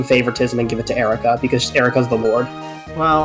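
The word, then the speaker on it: Eirika: air like if you you pronounce e it's pronounced air there Erica let me check something her her like skill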